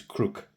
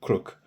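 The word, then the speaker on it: Крук: But the real the way that you actually pronounce it is crook. Uh I hope I'm pronouncing that right. So sounds like crook, but they put a bit of an accent on it.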